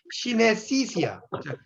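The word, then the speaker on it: synesthesia: 영어로는 시네시시아예요. 발음이 어려운데 시네시시아 이렇게 읽어요.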